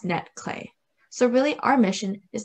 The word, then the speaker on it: netClé: limited mobility of functions so our name is pronounced netclay so really our mission is to help people with mobility limitations to connect to the digital world with our device so what is netclay neckline is a user-friendly customizable device that enables